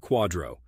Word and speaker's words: QDRO: qualified Domestic Relations order or qdro pronounced like Quadro the qdro tells the